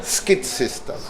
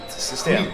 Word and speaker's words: Skitsystem: Skid System. Skid That's System. everybody outside Sweden say. Yeah, Skid yeah. System. How is it right pronounced? Sorry? How is the right pronunciation? Not skid system, but Skitsystem.